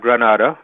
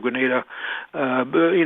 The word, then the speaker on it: Grenada: First of all, am I pronouncing Grenada right? You are pronouncing Grenada right. You're absolutely correct. It's not Granada, okay. Not the city in Spain.